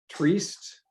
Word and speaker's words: Trieste: And in fact, our Italian and Slovenia compadres are willing to host us in the city of Trieste. I believe that's how you pronounce that. Trieste.